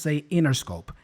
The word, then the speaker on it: Interscope: of Interscope she doesn't pronounce it Interscope we have here this NT combination usually especially in American English the t is dropped so we just say Interscope and that's how she